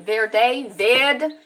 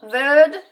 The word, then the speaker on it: Verde: So whenever I'm in a position where I have to, from the Cape Verde Islands, how do you pronounce it? Verde, Cap Verde.